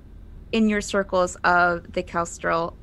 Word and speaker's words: Kestrel: A lot of talk in your circles of the Kestrel, and that's spelled, if you're taking notes, Kestral, like the bird. Kestrel.